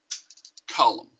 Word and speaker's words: column: issue with this word column column is spelled MN and the N is silent so I was taught